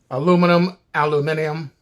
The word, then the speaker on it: aluminium: Just like tomato, potato, aluminium, whatever. And if you like the way I say that, I'll say it again. Aluminium. Now, I don't say it that way, but that's how they say it. In other countries. So if you were in IHOP in England and you heard somebody talk about aluminum, or another country, they might say aluminium.